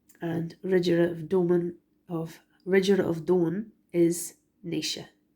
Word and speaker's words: Naoise: And Ridgera of Doan is Naoise. It's Naoise.